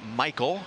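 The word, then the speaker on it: Maikel: brantley makes the play spelled differently but both guys pronounce their first name michael and now lance mccullers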